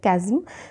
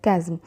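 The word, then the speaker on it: chasm: हमारा अगला वर्ड है कजम कजम इसको चाज नहीं प्रोनाउंस करना है इसको हम प्रोनाउंस करते हैं कजम सी एच ए एस एम सी एच ए एस एम कजम ये एक नाउन है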